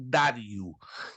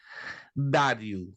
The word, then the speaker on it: Dario: deste Rei Dario ou Dario tem duas pronúncias né pode ser Dario ou pode ser Dário então Dário Dario era